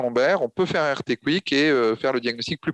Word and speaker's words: RT-QUIC: C'est ce qu'on appelle le RT-Quick. Donc ça s'écrit RT-QUIC, QUIC, pardon, RT-Quick.